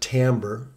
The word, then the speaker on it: timbre: have something that's very important and it's called timbre it looks like timbra on the spelling but we pronounce it timbre and this means the tone color or tone